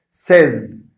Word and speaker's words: says: add is to the verb say you must pronounce it like that says says and when you pronounce the best form